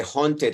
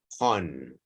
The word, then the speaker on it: haunted: Scaredy cat and the haunted house. Pay attention how you pronounce AU. Haunted house.